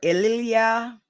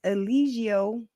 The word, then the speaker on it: Eligio: Nature Boy fan however why can't y'all say his name right I heard Elia I heard eligio I didn't her Ela I'm like damn the man's name is Elio Bishop like it's it's it's